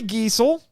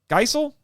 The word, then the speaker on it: Geisel: quotation I found here quote Audrey giesel Geisel we haven't settled on a pronunciation yet I would say Geisel Audrey Geisel objected to